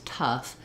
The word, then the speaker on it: tough: like enough or tough and again i could rewrite that like a u with two f's tough that might help me visualize what this ough is supposed to say that it's an uh and a f sound so even though uh